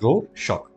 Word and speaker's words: Rorschach: It's named RORSCHACH, pronounced as RORSCHACH.